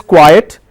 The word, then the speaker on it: quiet: The first one is quiet, Q-U-I-E-T, quiet. I pronounce that as quiet.